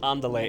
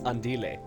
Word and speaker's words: Andile: It's not Andale, it's Andile. So, there you go.